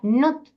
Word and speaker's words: nt: Entonces se escribía nt, se pronuncia nut.